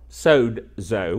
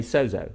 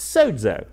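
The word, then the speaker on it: σῴζω: is s Ozio but in the official pronounciation of the Greek there's a little D in there so it's so though okay so so means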